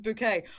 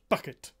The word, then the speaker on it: Bouquet: Bouquet. Oh, yeah! This is Bouquet. Yeah. It's pronounced bucket.